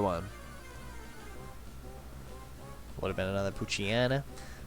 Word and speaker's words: Poochyena: Would have been another Poochyena. Poochyena. Maybe it's Poochyena. Like hyena? I've always pronounced it Anna. Poochyena.